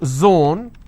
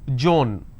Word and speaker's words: zone: For example, if I have the word zone, they pronounce this as Joan.